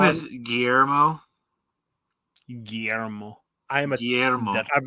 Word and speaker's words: Guillermo: say it right um he doesn't even have a s in it his name is gay armo okay Guillermo del Toro